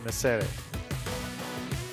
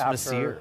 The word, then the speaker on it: Messere: outcome between Weissman and Messere. I keep pronouncing Owen's last name as though he's Italian, but the the Union Jack. Maybe it's just Messere.